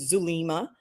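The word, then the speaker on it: Zulema: It starts with a Z. It's well, it's pronounced Sullema in Spanish. In English, it's Zu Lima.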